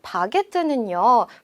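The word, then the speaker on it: baguette: 프랑스어로는 바게트라고 읽어요. 자, 프랑스 바게트는요, 프랑스에서 법적으로 정해놓은 레시피가 있다고 볼 수가 있는데요.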